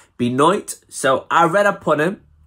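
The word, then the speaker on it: Benoit: up on crispy noit how do you pronounce it beat is b e n o i t i think b night so i read upon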